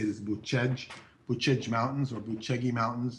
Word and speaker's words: Bucegi: This area is in, the way you say it is Buscegi. We'd spell it Bucegi. Americans might pronounce it Buscegi, but the way that Romanians say it is Buscegi.